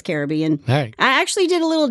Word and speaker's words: Caribbean: to say it right I always say the Caribbean but I know it's Caribbean I actually did a